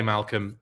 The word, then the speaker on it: Malcolm: It's pronounced like Malcolm. Okay, Malcolm, thank you. I was just trying to be like clever or something. No, it's Malcolm.